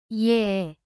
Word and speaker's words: 예: 에, 에, 에, Open your mouth and add a y sound before a. 예, 예, 예, Open your mouth slightly and place your tongue in the middle.